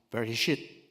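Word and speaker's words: בראשית: 영어로 in the begin 히브리 성경에서선 very shit 이렇게 발음해 very shit 이게 무슨 뜻이냐는 거예요 시간의 시작 시간이 시작된 것을 태초라고 이야기해 자 그럼 여러분에게 하나가 질문하 보겠습니다.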